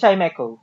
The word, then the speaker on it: Chimecho: It's Chimecho.